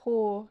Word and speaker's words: Hoar: How do Hoar E. whatever, Haw, pronounced Haw.